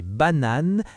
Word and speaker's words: bananes: des pommes, des bananes, des oranges. Les S à la fin ne se prononcent pas mais ils sont importants à l'écrit.